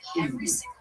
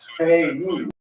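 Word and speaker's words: Kyiv: When you listen on the radio, everybody says Kiev.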